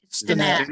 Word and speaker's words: Steinat: Did I pronounce that right? Steinat, yes.